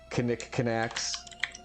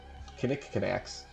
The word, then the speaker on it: knickknacks: Knickknacks. That's how you pronounce them. There are K's in those words. Knickknacks.